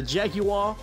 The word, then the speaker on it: Jaguar: bring it number 9 the Jaguar xj6 or like they pronounce across the pond the Jaguar now old Jaguars aren't